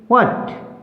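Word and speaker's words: what: Next rule देखिए, WH में H silent होता है। जिस भी वर्ड में WH आता है हमारा तो वहाँ पर H जो है वो साइलेंट रहता है। जैसे वर्ड देखिए WHET व्हाट, व्हाट, वाइट नहीं बोलेंगे क्योंकि H किसकी साउंड देता है?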